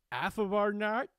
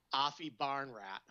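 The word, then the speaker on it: Aphibarnrat: John Daly versus Afa Barnard.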